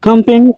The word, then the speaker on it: company: public, general, memory, history, several, business company, company It's not company, it's company. Because again, you put the stress on the first syllable, so it's company. So, the schwa sound, right? It's reduced. So, it's not like you don't say it at all. It's emphasis K I say company.